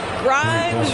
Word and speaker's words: Grimes: Grimes rhymes with dimes on time right there.